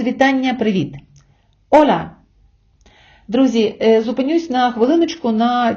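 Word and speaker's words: hola: неправильний наголос чомусь іноземці чують не ола а Ола з наголосом на а можливо це пов'язано з тим що А - це відкрита голосна наприкінці слова можливо від регіональної мелодики вимови іспанцем або від його настрою але правильний наголос на о ола ола йдемо далі адіош До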